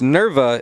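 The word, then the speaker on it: Nepveux: anybody if you're curious nerva is spelled n-e-p-v-e-u-x i had to i had to ask her on promo pic day i'm gonna need a pronunciation for that one she takes that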